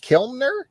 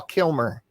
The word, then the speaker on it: Kilmer: watch it now are you saying kimner val kilner kilner val kilmer kilmer yeah so you got me earlier on the pronunciation of uh griffin and when it was